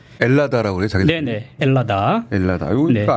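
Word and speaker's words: Ελλάδα: 헬라스네 헬라스의 음역이나라 네네네 요새는 h 발음 잘 안 하고요 라고 많이 그럽니다 엘라다 그래요 자기 네네 엘라다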